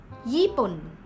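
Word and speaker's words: ญี่ปุ่น: country name Japan Japan in Thai language is yippin even kawaii the third country name Korea career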